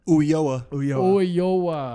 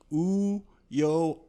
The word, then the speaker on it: Ulloa: Ulloa. Ulloa. I knew Yeah, that. the two L's make like a Y sound. I like to break it down for people into like three little like ooh yo.